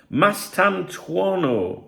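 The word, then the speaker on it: Mastantuono: Um, Goule and how do you pronounce his name? Mastantuano. Mastanto.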